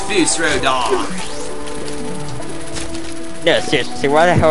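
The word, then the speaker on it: Fus Ro Dah: And you shall Daro Foos. But that's not how you say it. It's Foos Rodar.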